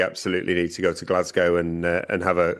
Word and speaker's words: Glasgow: thank you, we absolutely need to go to Glasgow and uh and have a a good nosy around their stuff because Tim, can you can you say it properly? Glasgow. Glazgi.